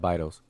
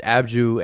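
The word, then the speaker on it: Abydos: region no no uh abidos which yeah abdos are vital they pronounce it by those but it's abju anciently but it's a vitals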